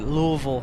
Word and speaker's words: Louisville: Memphis also from Louisville at Louisville yeah right the locals that's how they pronounce it listen we would love